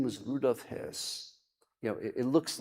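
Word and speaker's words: Höss: His name was Rudolfph his you know it looks like when you read it it looks like H but in German the umlau the two dots over the O it's pronounced his.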